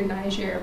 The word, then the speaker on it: Niger: French is the official language, so the way that Nigerians would pronounce it is Niger. Sometimes you will hear Niger, but the English version.